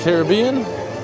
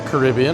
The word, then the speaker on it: Caribbean: And now back over by Pirates of the Caribbean or Caribbean, I guess depends on how you say it.